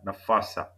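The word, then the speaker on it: نفاثة: So blow out the air and you'll be able to pronounce it properly.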